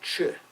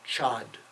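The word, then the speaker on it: Chod: widespread in Tibet called CH sometimes if you see it spelled you might say it's Chad c h o d but it's not the D is not pronounced in to ch ch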